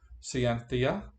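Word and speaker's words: scientia: science is science comes from the latin cienthia that's exactly how you pronounce that by the way which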